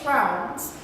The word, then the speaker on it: trousers: and it's the trail we don't roll the Rs trousers so one more time